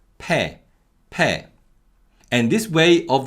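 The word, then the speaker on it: 폐: in korean is pronounced pe per and this way of the y-glide vowels yeah being pronounced as air is very common and we call this weakening of the y-glide vowels to give you another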